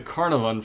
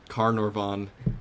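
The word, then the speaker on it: Carnarvon: uh carnan and that's where I get the carnavon from is because they're very similar and I start to Interchange letters and also I'm a American who can't obviously pronounce uh I'm looking at this stupid tweet which I posted which has the uh the proper pronunciation car noron so uh yeah but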